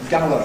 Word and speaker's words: Gower: Because, all right, basically it's Gower Street. Gower Street. But when it's familiar, we often just say it as Gar Street. Gar Street. Rhymes with par.